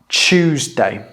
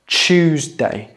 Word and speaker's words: Tuesday: Tuesday. Tuesday, not Tuesday. That would be the American pronunciation, but the British pronunciation is Tuesday with a ch, ch, ch sound.